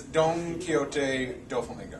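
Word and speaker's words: Donquixote Doflamingo: The correct way to pronounce it is Don Quixote do Flamingo.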